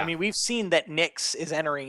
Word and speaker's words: Nyx: Yeah, Nix. Nix. Is that how Yep. we pronounce it?